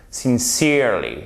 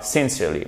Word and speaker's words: sincerely: Avec ici l'accentuation sur cette deuxième syllabe. Sincerely, et pas sincerely, mais sincerely.